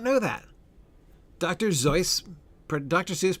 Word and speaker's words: Seuss: Zoe, Dr. Seuss pronounced his name Zoe.